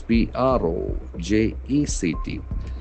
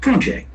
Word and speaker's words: project: project So here the noun pronunciation will have accent on the first syllable whereas if it is a verb project project the accent shifts towards the second syllable project.